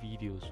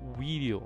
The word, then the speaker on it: Wideo: kind of uh promotional videos right um this tool would be great for that right and this this uh tool itself is called video right it's video but spelled with a w okay and before we